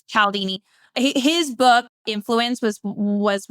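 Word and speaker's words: Cialdini: I used to say Chaldini, but it's Calaldini.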